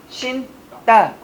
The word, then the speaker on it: 신다: 예사소리가 왔는데 발음이 어떻게 됩니까? 신고, 신따. 뭐가 와버리니까? 니은, 어간이 니은으로 시작했으니까 뒤에 오는 예사소리는 무슨 소리로 바뀐다? 된 소리로 바뀌더라.